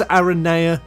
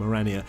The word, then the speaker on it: Aranea: ARA high wind uh I think it's ARA is the correct way to say it and I'm actually converted to ARA from arania I'm not however converted